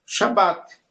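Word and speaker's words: שבת: sendo que a tua pronúncia é uma shabat, tá? Você nunca eh você nunca vai pronunciar de duas vezes. Você vai falar uma vez shabat, shabat shabat, shabat shabat.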